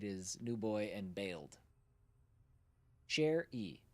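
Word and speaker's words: Sherrie: Share e like a musician. Share e. Okay. Share. So, it is s h e r r i e is a a similar pronunciation.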